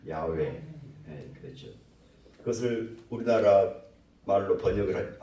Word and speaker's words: 야훼: 정확한 히브리식 발음은 야훼.